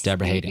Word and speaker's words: Debra Haden: Debra Haden. I'm pronouncing that right because you yes, was Debra. Okay. Yes, Debra Haden. You got it. You got it. It's important to pronounce correctly.